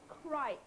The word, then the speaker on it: Crich: I think we've been told it's pronounced Crich Oh, rather Crich.